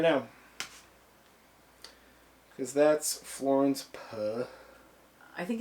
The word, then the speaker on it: Pugh: We had a Puh weekend. Yeah, Pugh. P-U-G-H. I feel like this is very quickly gonna devolve into Pepe Le Pew. I was just gonna say Pug. And the H is silent.